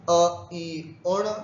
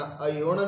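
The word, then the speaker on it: अइउण: एक बार फिर से, अ ई उण, ध्यान रखना अ उण नहीं बोलना, अ ई उण, रिल रिक।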